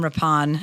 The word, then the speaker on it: Rippon: All right, Adam Rapon. I can't believe we finally got the pronunciation of your name right. You wouldn't think it would be that confounding. It's r i p o n.